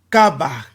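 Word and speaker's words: חבק: Eux, ils prononcent Kabak, mais comme la consonne finale ne se prononce pas, on va prononcer ça Kaba.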